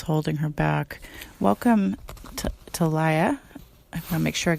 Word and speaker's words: Talaya: her back welcome to tolaya I'm gonna make sure I get your name right thanks for having me and my name is pronounced okay sorry yeah cancer Journey